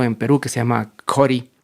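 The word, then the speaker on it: Ccori: Pero por otro lado hay un gran proyecto en Perú que se llama Cori, creo que se pronuncia Jori porque está en alguna lengua nativa.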